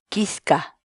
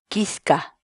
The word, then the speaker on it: kichka: de videos en la que te enseñamos a pronunciar algunas palabras en quechua. Así que nuestra palabra del día por hoy es Quisca, quisca, quisca, la palabra quechua.